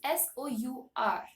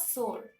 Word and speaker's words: sour: u r now uh all my life I call it as s because my teachers called teachers taught me so my parents taught me so but the actual pronunciation of this word is sour sour not sore you know the uh